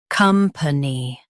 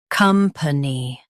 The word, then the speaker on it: company: Both US and UK have the same pronunciation of this word, company. Now read the syllables shown on the screen naturally. Ni, company. Stress cum and keep p light.